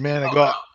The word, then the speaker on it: manicotti: Manicotti filled with meat. Sewer pipes. Oh. It's pronounced manigot.